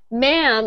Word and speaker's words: ma'am: Ma'am is spelt like this because it is the short form for madam. Madam. But we pronounce it ma'am, and it's actually spelt like that. We took the D out and we just make that ma'am.